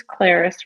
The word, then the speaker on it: Clarice: If this Clarice rhymes with Paris, she'll get it.